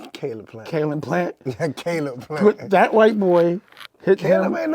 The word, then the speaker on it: Caleb Plant: And again, ain't no disrespect, but Carl Plant smacked the shit out of Charlo. Oh, you talking about Caleb? I said it right. That was bad. What Caleb Plant? Caleb Plant? Yeah, Caleb Plant.